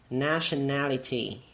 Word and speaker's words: nationality: in alright number three nationality is here now and this means good for this word we will dress on the third syllable nationality now listen and